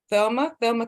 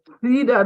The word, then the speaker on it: Theda: The first one is Thelma. Please unmute yourself and good evening. Yes, good evening, Sister Pauline. It's Theda though, TH, like you're saying the.